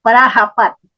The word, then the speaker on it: Prajapati: Por eso hacían eso, sí, Prayapati con J, Prayapati, quiere decir padre de la humanidad con en J. la India. Vale. Sí, Prajapati se escribe, Prajapati.